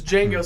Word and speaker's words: Django: He's like, the D is silent, hillbilly. Like, that comes is so dorky, unless it's Django saying it or Jamie Foxx when he says it.